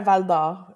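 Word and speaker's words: Val-d'Or: Well, my pronunciation could use some work obviously, but let's try Valdo.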